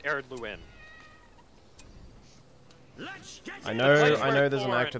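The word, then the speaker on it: Ered Luin: It's pronounced Eredluin.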